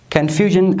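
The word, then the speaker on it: confusion: هر کله چې د یو لغات په پای کې اس آی او ان راغلل، هغه به تاسو په ژن باندې تلفظ کوئ.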